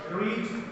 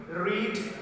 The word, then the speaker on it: read: this is now read past participle of this word read read read the spelling will be same but pronunciation will be different a book is read